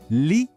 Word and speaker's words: lit: De novo, lit. Assim como em appartement, o T no final é mudo, a gente não fala.